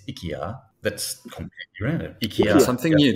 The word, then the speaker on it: IKEA: you know strange enough in Swedish to actually pronounce Ikea is ikia that's completely random something